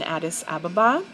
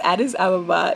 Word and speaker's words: Addis Ababa: for the uh soft matte lip cream in addis ababa everybody always mispronounces this addis ababa is a place in africa actually um rastafarians